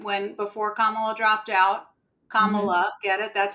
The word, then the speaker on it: Kamala: before Kamala dropped out Kamala get it that's how you say it if you're GNA say it correct people when they mispronounce her name it's comma like a comma and then love I have done that